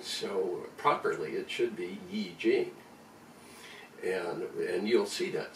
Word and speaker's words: Yi Jing: properly it should be Yi Jing and and you'll see that sometimes y IJ ing and then the Chinese pronunciation is e gene and so you can